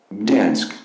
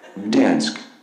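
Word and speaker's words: Gdańsk: So this is the actual pronunciation of this city. No, it's not playing. Let's try and change the sound preferences really quickly. Okay. Dansk. Ooh, it's so loud, sorry. Dansk. Okay, that's it. But you see how in the native pronunciation, there's no vowel there, right?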